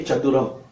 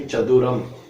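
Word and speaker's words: சதுரம்: For square we say chaduram.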